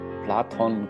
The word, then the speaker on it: Plato: no idea but yes it's platon in in greek and in spanish and in german yeah and in german i think it's it's just the easier the red or said pronounced plato probably like platon is yeah